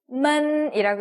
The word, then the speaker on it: 们: 이 n 어떻게 읽죠? 헷갈리시면 안 돼요. 그죠? 아직도 n이라고 읽으시면 안 돼요. 어떻게 읽죠? 이라고 있어요. 그쵸? 그러면 n과 합쳐졌어요. 자, 어떻게 읽어요? man이라고 읽죠. 네, 맞습니다. 그래서 너희들에서 들을 담당하고 있는 아이들이 바로 man이에요. 근데 우리가 딱 보니까 경성이에요. 그러면 니만 이렇게 읽어주시면 되겠죠. 니만, 네, 가볍게 탁 내려오는 느낌으로 니만 읽어주시면 되겠습니다.